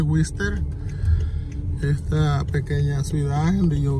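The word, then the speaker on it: Worcester: Se escribe Gorcester, pero así se dice Wister.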